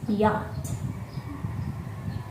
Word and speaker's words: yacht: don't be confused because the letter c and h in the word yacht is silent so we just pronounce it pronounce it as yacht okay very good y